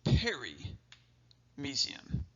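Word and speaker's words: perimysium: what that's called is the peri Museum and you can see the spelling right here PE RI parry and parry kind of similar to FD parry just means around so this is kind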